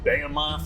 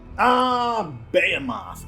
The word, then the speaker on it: Behemoth: I think it's actually pronounced Behemoth, so I don't know. Someone's corrected me on it before.